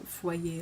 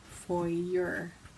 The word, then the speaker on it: foyer: I got destroyed for pronouncing foyer like foyer when I first moved to Canada Land years and years ago. Listen, I'm from the Southwest States. We say foyer.